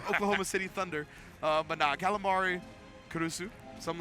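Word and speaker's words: Caruso: can say it like that like a real kusu kusu but that's not how you're supposed to say it all the use kuru kurusu Alex Kurusu for the Oklahoma City Thunder but namari kurusu something like that for calamari but you couldn't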